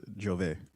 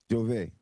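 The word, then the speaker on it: J'ouvert: It's pronounced Jove. Jove.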